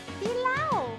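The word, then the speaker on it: dilaw: How do you say yellow in Tagalog, sweetie? Bilaw. Bilaw? Yeah. Yes. Bilaw? Bilaw. Bilaw. Bilaw. Bilaw? With a D.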